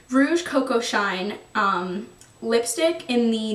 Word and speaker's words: Rouge Coco: favorite Beyond everything else um is the Chanel cocoa how do I say it wrong Rouge Coco shine um lipstick in the number 56 color